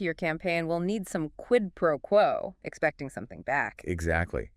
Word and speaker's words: quid pro quo: Q-U-I-D-P-R-O-Q-U-O. How do we say that naturally? Quid pro quo. Slight stress on quid and quo.